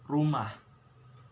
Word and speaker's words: rumah: sound like this okay with the h on the back like hasan so rumah okay one last time